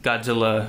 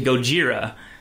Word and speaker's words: Gojira: was they kept calling Godzilla Godzilla, and then when the reporter had a report stolen, she corrected him to Gojira, which was I actually never noticed that at first.